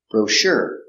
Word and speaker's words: brochure: in your dining room pronunciation brochure bro sure soft sound sure Accent on a second syllable brochure I haven't read the